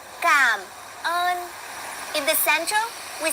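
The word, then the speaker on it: cảm ơn: You guys say, "No, it's cam earn." And they always make a point. Cam earn with a with an R.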